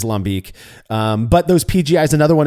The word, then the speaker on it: lambic: the tradition of styles like lambic, which is commonly called lambic over here. I again, if we're American, I guess we're allowed to butcher words sometimes. I get it, but it is, it is lambic.